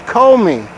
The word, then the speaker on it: Comey: So that's like co-captains or co-directors, Comey. Co-conspirators. It looks like commie. It's like commie a little bit, like community organizer, like communist organizer. Commie, but it's Comey.